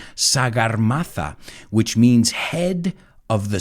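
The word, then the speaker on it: Sagarmatha: guy came on board in nepal it's called sagar mata now you'll have to excuse my pronunciation sagar mata which means head of the sky and there's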